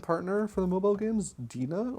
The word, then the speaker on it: DeNA: for the mobile games, DeNA, or DeNA, I think is how you say it if you want to be correct about it.